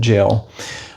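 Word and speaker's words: gaol: That with a G A O L I think is how you spell it, but jail.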